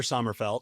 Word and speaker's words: Sommerfeldt: Everybody listening, today's guest, Chandler Srfelt. Did I pronounce it right?